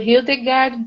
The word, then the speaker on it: Hildegard: A pronúncia é Hildegard, é isso? Isso, Hildegard de Bingen, na Alemanha.